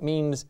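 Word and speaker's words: mesne: like it's spelled mesme but it means it's pronounced mean and it means intermediate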